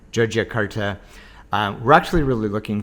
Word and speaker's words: Yogyakarta: on a train heading to joia Carta or yogia Carta I think you could pronounce it either way but I think most of the locals pronounce it joia joia Carta um we're actually really